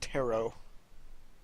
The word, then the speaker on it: tarot: context, it's pronounced tarot.